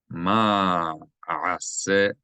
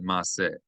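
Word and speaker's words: מַעֲשֶׂה: b ath ma ase, three distinct syllables, ase, and not mase. That's simply wrong. It's indisputably wrong. Ma'ase. If you want it to be ma'ase, you erase one of these vowels and also erase the ayn.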